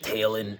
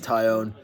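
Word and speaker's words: Jameson Taillon: this jameson tion fella that's how you pronounce his name i was calling him like tailin earlier but uh his name is tyon um unfortunately he's being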